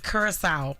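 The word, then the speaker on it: Curaçao: Curacao.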